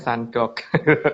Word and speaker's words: sunduk: Ya, ini penulisannya bahasanya setengah bahasa Inggris, Mbak, jadi bacanya sandok.